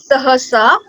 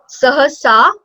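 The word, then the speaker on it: सहसा: Sahasa. It will be long at the end. Sahasa.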